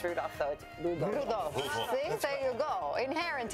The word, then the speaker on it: Rudolph: That is how you pronounce Rudolph, though. Rudolph.